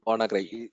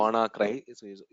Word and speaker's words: WannaCry: WannaCry. You need to pronounce like want to cry virus. It's an US slang. Okay, sir. WannaCry.